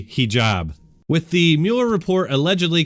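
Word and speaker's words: hijab: made yesterday multiple times criticizing ajeeb honestly I know how to say it correctly but for some reason my brain and my mouth just weren't cooperating I think I'm gonna go ahead and blame the time change I haven't been sleeping great thanks to everybody who reminded me of the correct way to say he job with the Muller report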